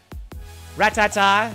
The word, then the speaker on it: Rattata: him the rattata ratata you know who says ratata is logan paul i say ratata rat tata i think it's like a fun pronunciation but it's rattata in my book fun fact ratatata was